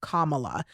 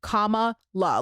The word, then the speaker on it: Kamala: wants to know it's comma la like comma like the punctuation Dash LA commala and anyone who